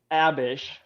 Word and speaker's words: Abish: a bish. She's a By the lovely. way, She's a pronounce- queen. She's a woman. Pronounced by Mormons as a bish.